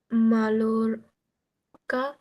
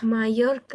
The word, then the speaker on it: Mallorca: Palma de Mallorca, মাইয়োরকা, Mallorca, ওই যে হ্যাঁ, অন্তস্থীয়র মতো উচ্চারণ হয় ডাবল এলটা।